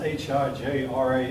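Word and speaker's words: Hijrah: That word is pronounced H-I-J-R-A.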